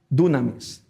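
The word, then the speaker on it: δύναμις: poder del griego y pronunciada con nuestro abecedario es dunamis Qué significa una fuerza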